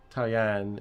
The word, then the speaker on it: Tao Yan: So we've got Tao Yan here.